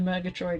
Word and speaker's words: Murgatroyd: Murgatroyd is how it is pronounced, but I'm gonna go with that because I don't know any better.